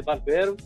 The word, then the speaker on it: Barbero: Então, o meu sobrenome é Barbero, não tem acento, mas a pronúncia é Barbero, origem italiana, e eu moro aqui